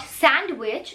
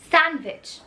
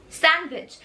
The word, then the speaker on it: sandwich: This is not sandwich, it's sandwich, sandwich. यहाँ पे जो D है उसको pronounce नहीं करना।